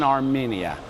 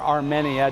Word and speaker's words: Armenia: Okay, I'm officially in Armenia, or Armenia, depending on how you want to pronounce this.